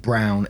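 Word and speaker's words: Braun: friends ask someone says b r a u n is pronounced Brown in German so people who know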